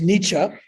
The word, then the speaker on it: Nietzsche: this book came about and of course the pronunciation of the philosopher's name for starters uh well the the name is nietzsche uh and uh federic nietzsche is a german